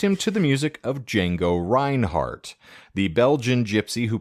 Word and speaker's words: Django: willie says johnny gimble the d is silent indeed and johnny gimble and all the other great fiddle players were jazz players and knew who jango was all the guitar